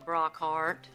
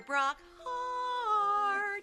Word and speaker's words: Brock Hart: Brock Hart. More welcoming. 2 syllables in heart. Sing it with me. Dr. Brock Hart.